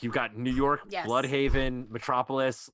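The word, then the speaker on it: Blüdhaven: both there okay like you've got new york bloodhaven metropolis like they're all what is my bloodhaven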